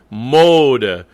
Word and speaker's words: Mode: Mode. Mode is the accent, so de is also a schwa.